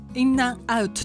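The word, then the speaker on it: In-N-Out: と思いますけどインとアンとアウトインアンアウトインナアウトって言うんですけどここはあの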